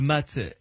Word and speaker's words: mat: D'abord, c'est la carte qui s'appelle le mât ou le mat, M-A-T, hein, ça s'écrit.